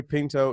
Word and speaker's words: Pinto: Pinto, yeah. Pinto, like the beans, or the right? car.